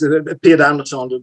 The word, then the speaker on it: Pidde Andersson: Well, it's spelled Pidde Andersson, but it's pronounced throat wobbler mangrove. No, it's Pidde Andersson, but it's just my nickname, actually.